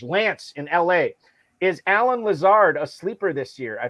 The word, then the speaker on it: Lazard: he talks about alan lazard he always pronounces his last name lasard instead of lazar and i always think